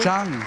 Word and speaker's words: Jung: It's Jung. Jung. Harriet Jung.